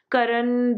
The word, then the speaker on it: Karna: son of surya okay i have been trying to say it like like the proper hindi word but you know it's like so much punjabi in me is there that i can't just say it properly so this was a